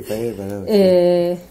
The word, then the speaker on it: Fayed Badawi: Fayet Badawi dugu gaur gurekin, no sé si he pronunciado bien tu nombre. Sí, Fayet Badawi.